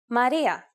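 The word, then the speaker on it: Μαρία: You might have heard its Italian and Spanish version, Maria, and it's exactly the same in Greek. Maria.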